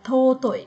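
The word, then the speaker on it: 尊い: Chữ tôn này thì chúng ta sẽ đọc là totoi desu ne.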